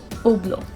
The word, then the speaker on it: Hublot: it is pronounced as oblo the sound of edge is absent in these guys even the sound of t is not there it's simply oblo now this brand is